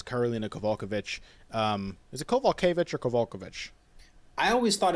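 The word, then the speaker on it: Kowalkiewicz: Um, is it Kovalevich or Kulkovich? I always thought it was Kvulkovich, but they kept but uh I trust I trust the man himself uh John Anick who said Kovalevich.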